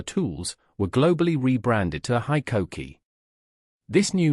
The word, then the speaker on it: HiKOKI: The pronunciation of HiKOKI quickly became a point of emphasis for the new brand. The company made it clear that the I should be pronounced like high, and Koki like kokey.